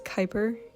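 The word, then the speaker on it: Kuiper: I was younger, but anyway, his name is Kyper.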